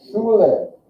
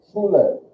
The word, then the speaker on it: Schule: Schule. Schule. One other pronunciation rule.